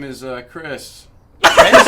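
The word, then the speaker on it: Crish: it's c r i s h chish chis pronounced Chris got you okay for sure um so yeah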